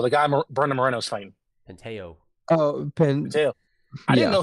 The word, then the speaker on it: Pantoja: Penteo.